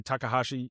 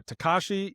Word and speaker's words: Takashi: of that trailer by Takahashi Yamazaki, which is the director of these films. I added an extra syllable in there. Takashi Yamazaki, that's his name.